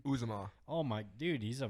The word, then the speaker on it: Uzomah: Uzomah.